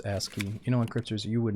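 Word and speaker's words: ASCII: It's pronounced Aski.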